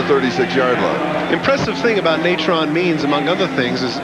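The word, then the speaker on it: Natrone: piece of running and we checked out the pronunciation of his first name this is several different ways that we asked him how his mother pronounced it she said natron he said that's it puff fake wants to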